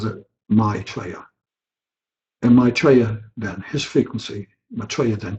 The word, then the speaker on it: Maitreya: the name is spelled ma T but he pronounces it my player in Maitreya then his frequency Maitreya then King appeared to